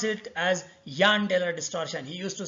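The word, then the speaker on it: Jahn–Teller: Our professor used to pronounce it as Jahn-Teller distortion. He used to say that this J should be pronounced as year. Okay, anyway, we will call it as a Jahn-Taylor distortion.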